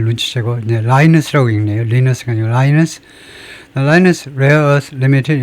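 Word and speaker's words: Lynas: 제가 자꾸 발음을 중요시해서 하는 걸 눈치고 이제 라이스라고 읽네요. Linus linus Linus rare earth limited is an Australian mining and company and one of the largest process 중국을 외는요.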